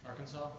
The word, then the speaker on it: Arkansas: II here's the tossa it's one of the two US states whose last letter is an unpronounced S it is home to both the wat and Ozark Mountains and contains the only Arkansas Arkansas is what we're